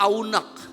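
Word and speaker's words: ענג: itu ternyata dari kata aunak, tulisannya anak, A-N-A-G, biasa saja tulisannya, tapi bacanya adalah aunak dalam bahasa Ibrani.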